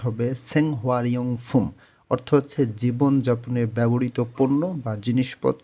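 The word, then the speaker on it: 생활용품: যদি আমরা উচ্চারণ করি রিউল বাচ্চিমটা উপরে চলে যাবে উচ্চারণটা হবে সেংহারিয়ং ফুম অর্থ হচ্ছে জীবনযাপনে ব্যবহৃত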